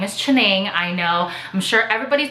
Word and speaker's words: Chianingly: sure everybody's been wondering how to pronounce my English name well lost or I really don't have one so it's my Chinese name literally directly translated into English so it's chinning and I will post